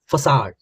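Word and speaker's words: façade: तो सिनोनिम इसके हो जाएंगे शीन या फसाड। इसकी प्रोनाउंसिएशन थोड़ी सी अलग है, इसको बोलते हैं फसाड। ठीक है, सारे फसाद की जड़ तुम हो, ये वो वाला फसाद नहीं है, वैसे बता रहा हूं।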